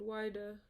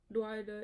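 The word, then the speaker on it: Whydah: the place called drida this is called wider by the whites but dwighter is the nigerian pronunciation of the place when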